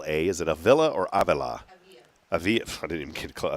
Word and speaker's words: Avila: Avila.